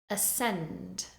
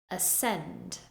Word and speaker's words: ascend: word more correctly now let's look at words with a silent c first we have muscle muscle scen scen scissors scissors Ascend Ascend as with the words before all of these words have a c in the spelling but you do not pronounce it next we have a